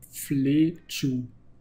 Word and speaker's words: Fletch: Fletchu. Ja, Fletch. Also habe ich es richtig ausgesprochen.